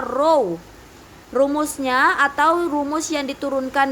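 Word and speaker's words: ρ: yang ketiga massa jenis lambang besaran turunan nya mirip huruf P tapi ini dibaca row rumusnya atau rumus yang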